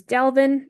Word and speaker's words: Delvin: Next is Delvin, a variant of Delvin, which is just kind of a name that rhymes with Kelvin.